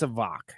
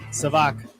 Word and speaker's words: SAVAK: now all savak savak god if i've been saying it wrong i think it's savak and i should have maybe